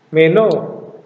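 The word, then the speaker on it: μενῶ: Saya sedang tinggal meno ini dibaca me-nya tinggi meno Kalau yang ini meno saya akan tinggal karena aksennya di belakang jadi dibaca o-nya yang naik meno gitu ya Nah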